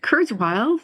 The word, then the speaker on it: Kurzweil: Kristina, Shen, and Ethan, is it Kurzweil? Is that pronouncing his name correctly? That's correct. You got it. You nailed it.